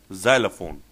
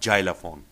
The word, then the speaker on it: xylophone: organ, xylophone, musical instrument, xylophone. It's always Z and not xylophone.